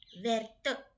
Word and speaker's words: verte: If you put E, it becomes feminine, and the pronunciation from where becomes verte.